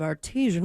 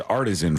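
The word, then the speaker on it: artesian: In that case, I have a lot of artisian water at my home. Bad news on my front. I've been saying that word as artisan for 43 years.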